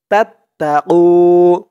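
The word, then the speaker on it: تتقوا: ইল্লা আং তাত্তাকু, তা দিয়ে তা ধরবে, তা তা জবর তাত, তা জবর তা, তাত্তা, আং তাত্তা কু, কু এক আলিফ টান পেশের পরে ওয়াও সাকিন, আং তাত্তাকু।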